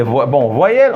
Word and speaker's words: voyelle: Concernant les voyelles, on écrit voyelle en français, on la prononce voix, c'est-à-dire on le prononce comme ça, voix, avec i, mais on n'écrit pas i, d'accord?